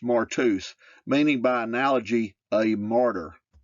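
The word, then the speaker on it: μάρτυς: definition for Witnesses Greek Strong's number 3144 martus pronounced martus meaning by analogy a martyr what is a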